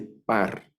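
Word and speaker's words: פַּר: vacuno masculino verdad toro Esta es una letra p y tiene daguesh aquí suena como nuestra letra p p de papá o de pepino verdad esa ese sonido tiene una pata que suena a y una red que es el sonido de la r aquí dice par par Así suena esa palabra par entonces tengo par que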